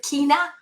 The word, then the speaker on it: China: 3x twice daily and china 3x china c-h-i-n-a some people pronounce it kina but i mean let's